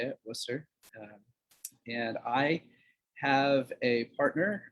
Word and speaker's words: Worcester: That's how you say it, Worcester.